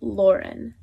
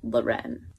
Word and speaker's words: Lauren: Givenchy Louie Vuitton Lanvin teary new glare Ralph Lauren not Lauren and last but not least even I was pronouncing this one wrong for a while it's